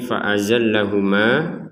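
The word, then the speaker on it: فَأَزَلَّهُمَا: Sini yang perlu dijelaskan di sini fa'azallahuma, ya, kita bacanya dua harokat jika berhenti di sini. Fa'azallahuma, jadi di sini ada fathah bertemu dengan alif, ya, maka kita baca dua harokat.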